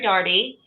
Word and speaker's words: Dougherty: In Ireland, they'd probably disagree with the way I pronounce it. So Dougherty is how I say it.